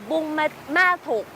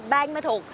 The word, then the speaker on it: Buôn Ma Thuột: It's either pronounced Buôn Ma Thuột or Bang Ma Thuột. Buôn and Bang as in village, Me or Ma as in father, and Thuột as a personal name.